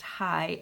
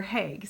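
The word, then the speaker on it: Haigh: name would be pronounced hi h a i g h but it's pronounced like the city or like Americans pronounce the city here in the Netherlands the heg it's Jennifer heg so anyway uh this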